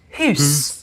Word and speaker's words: house: For house would be pronounced hus.